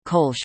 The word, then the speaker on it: Kölsch: Colonian or Kolsch, Colonian Kolsch pronunciation K, natively Kolsch Platt, is a small set of very closely related dialects or variants of the Ripuarian Central German group of languages.